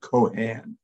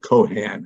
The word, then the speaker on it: Keohane: but I pronounce it Keohane. I mean, you're quite close, much closer than most people are. But I pronounce it Keohane as if there were no E's at all.